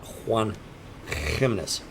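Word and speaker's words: Juan Giménez: See, he's directing me to Juan Gimenez. Juan Gimenez. Juan Himenes. That's That's how you pronounce that.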